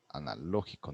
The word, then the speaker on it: analógico: Acento en la segunda A, analógico, no en la O es, porque es lógico.